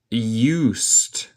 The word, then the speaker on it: used: But I'm not used to it. Escucha mi pronunciación. El E es muda y el D suena como T.